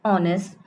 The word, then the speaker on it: honest: H is the starting word for honest, but we are pronouncing it honest.